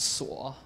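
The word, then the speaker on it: 锁: so the first one SWA is that that one at the very top it's pronounced saw oh gosh sorry that one it means it just means lock so if you look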